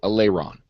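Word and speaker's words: Alaeron: character is uh allerion aleron Alon a l AE r o n AE is pronounced like a so Aon all right Aon Alon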